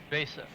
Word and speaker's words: VESA: Vesa. I mean, it's spelled with an E, and you don't want to confuse it with a credit card, so you say Vesa.